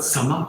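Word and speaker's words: Śama: Shat Sampat Sama, control of mind, Dhamma. It is pronounced as Shama also somewhere, but he doesn't pronounce as Shama because Shama means it can be mistaken for a Hindi word Shama.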